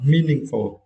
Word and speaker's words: meaningful: The first word is meaningful. Yeah, meaningful. And for this word, you need to stress the first syllable, me, right?